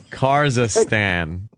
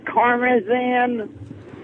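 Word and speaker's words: Karmazin: Kazakhstan. I know I said it wrong. I mean Karmazan.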